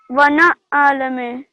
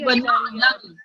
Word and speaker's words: وَنَعْلَمُ: Wana'alamu. No, try again. Wana'alamu. No, the ayn doesn't have fatha. Pardon? The ayn doesn't have any fatha. It has sakun. So you would pronounce it as وَنَعْلَمُ.